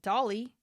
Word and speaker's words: Dalai: Well, I don't think it's actually pronounced Dolly, how everyone says it.